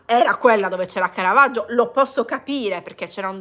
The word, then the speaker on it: Caravaggio: sentito anche l'accento straniero la pronuncia diversa rispetto a cardage anche lì Ho detto che si dice Caravaggio e quindi ho fatto